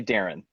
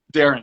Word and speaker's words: Darren: say my name Darren I would say Darren Darren yeah yeah standard American it's Paris and Paris yeah yeah yeah it's that air sample are you always use